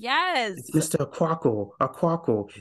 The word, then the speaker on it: Quackle: Aquaco, Aquaco. It's easy to say Aquaco.